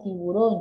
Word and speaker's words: tiburón: Pero en este caso, como tiburón lleva su mayor fuerza de voz en la O, es una palabra aguda, porque la lleva en la primera sílaba, última, penúltima y antepenúltima sílaba.